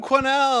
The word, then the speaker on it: Quesnell: here quenelle yeah my last name's spelled with a Q so figure that out and there's an S that doesn't make it's not make a peep - gross french-canadian quiet as a church mouse that it's a french-canadian